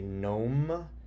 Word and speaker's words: gnome: So, and did you say gnome?